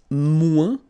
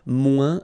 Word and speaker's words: moins: Then if you want to say less, it's moins in French. So no discussion about the S here. Don't pronounce it. Okay, moins de, and then you put your noun, que, than, and the rest of the structure.